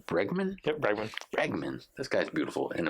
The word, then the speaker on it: Bregman: Is it pronounced Bregman? Yep, Bregman.